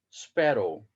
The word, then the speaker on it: sparrow: Okay, sparrow. So you can see that the sparrow, the first syllable of the word, okay, is, or the letter sparrow is stressed, sparrow.